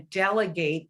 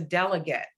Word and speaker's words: delegate: And so we want them to hear the difference in pronunciation between I'm going to delegate this task to you or he was a delegate.